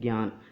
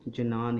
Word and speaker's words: ज्ञान: ठीक है, ज्ञान शब्द यदि हम हिंदी में इसको पढ़ें तो हम इसका उच्चारण करते हैं ज्ञान, लेकिन साथियों कुछ संस्कृति के संस्कृत भाषा के जो पंडित हैं, महापंडित, वो आज भी इस शब्द को जनान ही पढ़ते हैं।